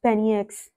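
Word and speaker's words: BNYX: Benjamin Saint Ford, born April 23, 1995, professionally as Benix, pronounced as Penix, is a record producer from Pennsylvania.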